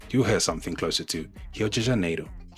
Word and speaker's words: Rio de Janeiro: You'll hear something closer to Rio de Janeiro, Rio de Janeiro. Or word like car, you'll hear something closer to carro, carro. So that R at the beginning of a word is pronounced like an H, and the RR in